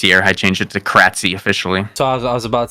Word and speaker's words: Kratzy: So Kratzy is how it's said, and it's been a nickname of mine since I was a kid.